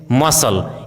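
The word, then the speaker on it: muscle: यदि किसी वर्ड में एस सी साथ में हो तो सी का उच्चारण साइलेंट होता है, जैसे scene, seizures, disciple, discipline, science, conscience, accent, fascinate, मसल।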